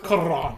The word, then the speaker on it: Cuarón: I like how Zach tries to be all like Spanish and roll his tongue. No, it's and Alfonso Cuarón. Yeah, it's cool. That's how you say it. Wrong. That's what that accent mark is for on the O.